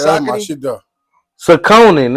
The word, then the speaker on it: Saucony: I had Saucony. What about Oh, Saucony? Oh, yeah, that's my Saucony? shit, though. Saucony, It's nigga.